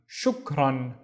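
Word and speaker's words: شكرا: The first syllable would be shuk, and then run, shukran, shukran, which means thanks.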